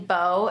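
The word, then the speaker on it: Beau: But Bo is spelled B-E-A-U.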